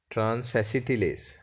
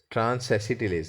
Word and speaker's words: transacetylase: lack a transaction is transaction says transacetylase transacetylase that is how you pronounce it transacetylease that is left